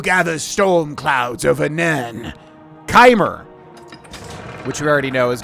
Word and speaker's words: Chimer: Chimer. I think it's Keimer. That's how you pronounce it.